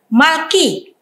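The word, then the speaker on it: מלכי: Ya, saya sudah mulai dapat membayangkannya bahwa ini bacanya adalah Malki, yang dimana Yod ini adalah matres leksionis untuk penanda bunyi I, Malki.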